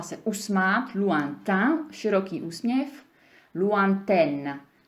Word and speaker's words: lointaine: Et puis, donc les N, lointain, tam je třeba se usmát, lointain, široký úsměv, lointaine. Takže tam se taky usmějete, ale vyslovíte N a AI se vyslovuje jako E.